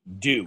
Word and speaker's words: Doo: Oh, I thought his I dog meant to say, I thought I meant to say her name is Doo, like Mountain Dew, D-E-W.